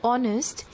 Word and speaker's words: honest: be used with n in the word honest h is silent we don't say honest